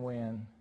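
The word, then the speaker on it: Nguyen: my respects to Tevin Wynn and his family and his memory. Now, Tevin Wynn's last name is not spelled W-I-N. It's spelled N-G-U-Y-E-N.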